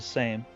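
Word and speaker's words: Sejm: I think it's pronounced Seam. Might be spelled S-E-J-M, but there's something about the Polish use of the J, right? But I think it's called the same.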